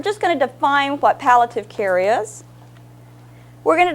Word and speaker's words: palliative: to make sure I was right and it's pallative with The Shard a so we've cleared that